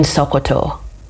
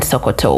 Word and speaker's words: Sokoto: know what recently happened in Nigeria specifically in sakoto sakoto am I pronouncing it right Soo that's that's the pronunciation